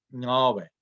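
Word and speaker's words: Ngäbe: En realidad, o sea, es lo que llama, esa vocal es una O abierta, es Nabe, Nabe, Nabe.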